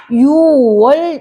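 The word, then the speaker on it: 유월: 우리 이거를 뭐라고 읽어요? 10월이 아니라 10월 이러잖아요. 그래서 10월 이렇게 6월 이러잖아요.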